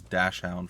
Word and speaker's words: dachshund: Oh yeah, so we had a dachshund at the time, a wiener dog for people who like to pronounce it as dash hound for whatever reason.